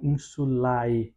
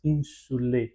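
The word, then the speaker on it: insulae: Ah, por isso mesmo que em palavras como insulê, eu não pronuncio o a ah da palavra não insulai, né? mais insule, né? Sempre nesses encontros de a e nós pronunciamos somente o e, mas posteriormente farei um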